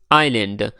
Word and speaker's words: island: Island यहाँ पर जो एस है ये साइलेंट है. एस जो है ये साइलेंट है, तो इसलिए इसका प्रोनाउंसिएशन कुछ यूँ होगा आइलैंड.